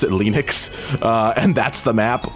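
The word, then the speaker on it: Linux: like my name is lenus thals and I pronounced it lenux uh and that's the map oh wait what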